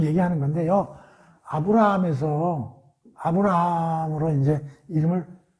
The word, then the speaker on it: 아브라함: 근데 한번 발음해봐. 아브라함. 이게 이제 히브리 말이잖아요. 여기에 이제 이 H 또는 이 히읗자. 이게 이제 우리가 이제 뭐 히브리 말을 공부하는 건 아니지만 약간 콧소리 비슷하게 들리잖아. 아브라함.